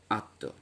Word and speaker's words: আত্মা: যেমন আত্মা, এই দ্বিতীয় ব্যঞ্জন তয়ের সঙ্গে যুক্ত হয়েছে এবং তকে দ্বিত্ব করে দিয়েছে, এখানেও দ্বিত্ব করে দিয়েছে, কিন্তু সানুনাসিকতাটা চলে এসেছে শব্দের প্রথমে যদি স্বাধীন স্বরধ্বনি থাকে।